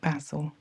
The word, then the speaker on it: basil: I know for some of you this is pronounced basil, but in the UK we call it basil.